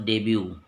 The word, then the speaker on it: debut: मतलब made her first डेब्यू उन्होंने eight international level. First appearance का मतलब इधर डेब्यू भी लिख सकते, DEBUT साइलेंट है।